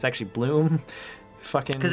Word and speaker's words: Blum: Because everyone wants to say Blum, but it's pronounced Bloom, I believe.